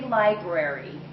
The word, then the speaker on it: library: say library okay the the correct way to say cuz I'm sure this will come up is Library make sure in there library liary library and it's very important